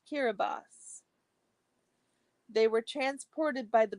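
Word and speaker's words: Kiribati: Papa new guini and kirati Gil Gilbert Islands pronounced kirbos they were transported by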